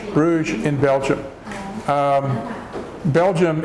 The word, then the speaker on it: Bruges: pronouncing Bruges Bruges in Belgium Belgium it's in Europe but it's